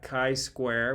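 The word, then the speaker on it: chi-square: used are based upon Kai we learned that Kai Square we learned how to pronounce that if you ever don't know how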